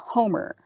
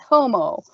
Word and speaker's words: Homer: Also Homer, not Homo, played by...